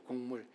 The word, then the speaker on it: 곡물: 제가 자꾸 발음이 곡이 기억이 아니고 이응 곡물이에요. 곡물, 예물 이렇게 생각하시면 좋겠어요.